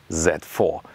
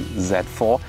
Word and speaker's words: Z4: design for the new z4 by the way i always say z4 because the german pronunciation would be set fear so z4 would come close to it you know some say